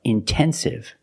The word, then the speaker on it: intensive: Or words like intensive, intoxicated. We have the stress after the NT.